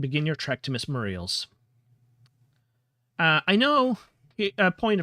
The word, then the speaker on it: Muriel: Uh I know a point of pronunciation oftentimes people pronounce this name Muriel. Personally I had a grandmother whose name was Muriel. Uh but she always pronounced it and the rest of my family always pronounced it Muriel.